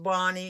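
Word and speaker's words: Bonne: um then we have I think it's pronounced Bonnie it's b o n n e from Pennsylvania and she's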